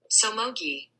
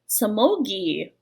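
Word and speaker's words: Somogyi: Somogi. Somogi.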